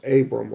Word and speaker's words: Abram: i'm going to start off verse one and two this is our forefather abraham whose name is pronounced abram right now now sarah abram's wife bare him